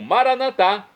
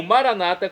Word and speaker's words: Maranata: e agora eu clamo maranat como dizemos nós católicos ou Maranata como dizem nossos irmãos separados os evangélicos ou protestantes não importa a pronúncia o significado é o